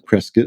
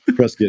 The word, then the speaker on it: Prescott: Pres, excuse me, Prescuit. I got to get get the the the pronunciation correct. Prescuit, Arizona.